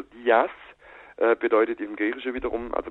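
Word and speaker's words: Δίας: muss auch wissen also Zeus wird eigentlich in Griechenland nie als Zeus ausgesprochen oder als sefs sondern eigentlich immer als dia und dir oder Dias bedeutet im griechische wiederum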